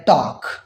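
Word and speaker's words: talk: Could, half और है टॉक। अब इन तमाम वर्ड्स में देखें, हमने जो एल है उसको प्रोनाउंस नहीं किया, उस एल को जो के एम और एफ से पहले आया हुआ है।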